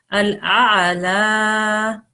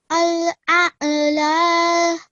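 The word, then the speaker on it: الأعلى: We need to work a little bit on this ayn sound because when we do a hamza, then it makes a slight jerking sound. And when we do an ayn, it's a slightly different sound.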